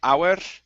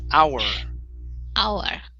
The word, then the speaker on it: our: here is our okay control your tongue on that r instead of our rolling the r it's our there you go good